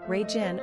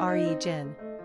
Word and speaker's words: Regan: Pronunciation, Regin or Regin. Simple meaning, impulsive.